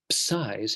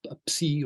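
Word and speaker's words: ψ: can see some Greek psis. Here's one, psi or psi, however you choose to pronounce it.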